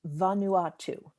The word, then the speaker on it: Vanuatu: andrea it is pronounced vanuatu so i guess the emphasis on the ah vanuatu that's a good question